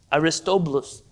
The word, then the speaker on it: Aristobulus: I think you pronounce it Aristobulus. Aristobulus.